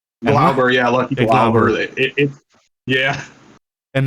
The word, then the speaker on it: Glauber: Because your main is Lucky Grabber, I think. Or how do you say his name? Glauber, yeah, Lucky Glauber.